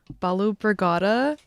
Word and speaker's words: Balu Brigada: My name is Sema and I'm here in the KVRX library with Balu Brigada. I hope I'm pronouncing that right.